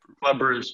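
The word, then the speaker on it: Club Brugge: Club Bruges, yeah.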